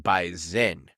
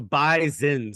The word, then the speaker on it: Bison: it's a bison and it's spelled bison but it's pronounced B Zen so B Zin before the game baen